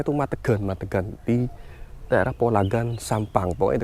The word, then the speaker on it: Madegan: Bacanya tuh Madegan di daerah Polagan, Sampang.